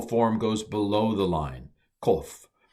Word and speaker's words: kof: goes below the line, kof. And we translate it with a Q. It's not exactly a Q, but ko.